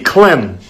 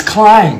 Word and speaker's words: climb: add a c it's it'd be clim no it's climb you don't see how